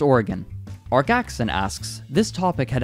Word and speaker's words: Oregon: me know similarly everyone it's not Oregon it's Oregon just Oregon Jackson asks this topic